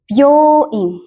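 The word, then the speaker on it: びょういん: Jadi byoing. Byoing. Ininya bacanya jadi byoing.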